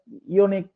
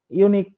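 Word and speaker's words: unique: কিন্তু ওই যে ভাওয়েলের যে একটা ব্যতিক্রম নিয়ম ছিল, যেখানে ইয় উচ্চারণ হয়, ইউনিক, ইউনিক, হ্যাঁ, এই যে উচ্চারণটা ইউ এর উচ্চারণ ইউ এর মতোই হচ্ছে আর কি।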